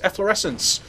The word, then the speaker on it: efflorescence: aware of it eor efflorescence if you wonder how to pronounce that in English it's efflorescence your Swift men spell